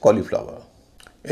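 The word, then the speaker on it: cauliflower: लेकिन एक शब्द ऐसा है जहाँ एयू का उच्चारण छोटा होता है, वह शब्द है कॉलीफ्लावर।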